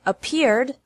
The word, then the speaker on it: appeared: Appear has 2 syllables, and appeared also has 2 syllables.